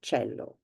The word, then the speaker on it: cello: the sound ch um I've chosen the the instrument cello because it is written exactly the same way in Italian and in English and it is also pronounced in the same way cello um the sound Chi